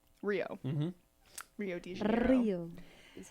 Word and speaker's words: Rio: Rio. Is how it's pronounced.